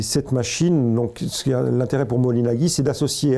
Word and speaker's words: Moholy-Nagy: beaucoup intéressé au mouvement, c'est Laszlo Moholy-Nagy, comme on prononce à la hongroise, qui a donc été enseignant au Bauhaus et qui s'est beaucoup intéressé aux techniques nouvelles, aux technologies nouvelles.